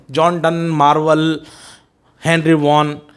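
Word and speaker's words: Vaughan: Henry wagon नहीं बोलते हैं, वॉन, ही इज the another metaphysical poet.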